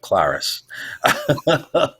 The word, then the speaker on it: Klaris: Well, it rhymes with Karis, so it was like Klaris.